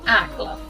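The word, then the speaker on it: Accra: educação e seus costumes geralmente engana pronunciou o som da letra R como L assim por exemplo ácra pronuncia-se acla em relação ao vestiário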